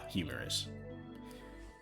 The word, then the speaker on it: humerus: And it also has the same pronunciation as the hahaha humerus.